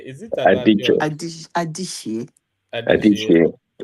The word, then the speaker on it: Adichie: I think it's pronounced I call Adichie. it Adachi. Is it Adichie? Adichie. It's Igbo name now, so you will pronounce the she very well. Yes, Adichie.